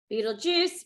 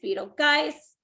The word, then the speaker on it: Betelgeuse: Beetlejuice, Beetlegeist, Betelgeuse. There's a bunch of them. Beetlejuice. You most commonly, guys, you most commonly hear Beetlejuice or Beetlegeist.